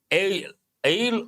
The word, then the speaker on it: aisle: Ale or aisle, I suppose. S is silent, part of speech noun.